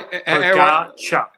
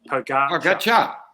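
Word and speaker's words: Pogačar: So Judy Lynn says, could someone please teach Iffy how to pronounce Pogacar? Sorry. Pogacar. Pogacar.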